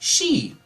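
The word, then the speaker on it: 四: The number 4 can be pronounced she. It's like the same. It's like the same as saying death.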